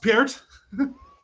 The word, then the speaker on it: Peart: But after that, pronounced Peart.